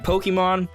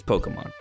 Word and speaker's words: Pokémon: But if you're saying Pokemon, that's wrong. It's Pokemon.